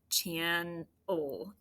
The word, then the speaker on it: channel: Channel.